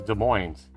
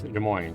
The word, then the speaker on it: Des Moines: evening game wah i always thought that was des moines game wah that's probably the right way to